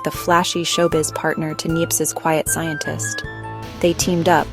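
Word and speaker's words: Niépce: And that hero was a French guy named Nie for Neps. I think that's how you say it. Neps. Sounds like a fancy sneeze.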